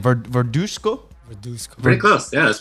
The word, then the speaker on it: Verduzco: botch your last name, Verduzco. Verduzco. pretty close. Yeah, that's pretty Verduzco. You gotta say with a little Spanish accent. Verduzco. Can you roll your R? Huh? Can you roll your R? Verduzco.